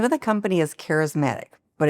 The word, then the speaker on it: Kareismatic: The name of the company is Kareismatic, but it's spelled very interestingly. My name is Karen. And so it's Kareismatic. So it's a play on my name as well as a play on charismatic is attracting loyal followers,